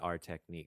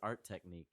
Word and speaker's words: ArTechník: I say ArTechník because I like Yeah. what it Aaron does. says ArTechník, it seems like. I sort of emphasize the T for both syllables. Right. I sort of go art And technique.